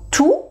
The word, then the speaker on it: tous: donc tout va bien tous les jours tout le monde tous les élus réfléchissent et alors le point commun bien sûr c'est que on ne prononce rien du tout vous avez vu que